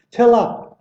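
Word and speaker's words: צלב: 히브리어는 첼라보가 아니고 첼라보가 명사예요. 첼랍. 시작. 첼랍. 보는 외우시면서 첼라보로 외우시지만 그들 발음 첼랍.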